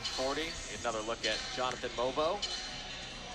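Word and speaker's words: Mogbo: Another look at Jonathan Mobo. Obviously spelled Bogbo. The G is silent.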